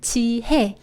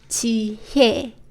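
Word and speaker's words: 지혜: So this word right here is also read Ji Heh, not Ji Hye.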